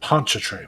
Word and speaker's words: Pontchartrain: Pontchartrain. Okay, that's how you pronounce that.